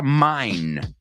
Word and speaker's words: famine: Y es interesante porque tiene la palabra mine, pero es min. Dilo conmigo. O sea, se escribe famine, pero se dice famine.